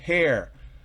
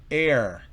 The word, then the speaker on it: heir: Las 4 palabras son heir, que significa heredero. Honest, no es honest, no es hair, sino es heir.